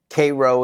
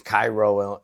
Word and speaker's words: Cairo: It's like Cairo, Illinois. It's Cairo. It's Cairo, right, to the rest of America. A really racist area at one time. Well, they call it Cairo.